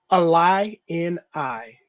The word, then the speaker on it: Illini: Is this Illini or how did y'all say this? Illini.